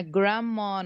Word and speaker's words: grandma: reduced reduced um it's it's not silent but it's not pronounced by the way yes